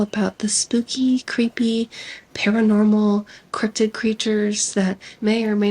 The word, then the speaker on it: cryptid: spell it yes cuz I thought it was cryptic for like 500 years crypted is like crypto but just without the O and an ID so c r y